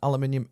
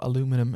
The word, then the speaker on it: aluminium: moment bezel there is an aluminium insert or aluminum as you Americans say super luminous that's what